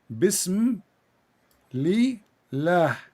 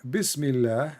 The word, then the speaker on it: Bismillah: You see the word in the top, it says bism li lah. Do you see it? This is the Muslim trying to teach you how to pronounce it, but for you speak Arabic, do not need it. But just for people to see. So in the first one in Arabic, it says here Bismillah, and the Allah is written differently.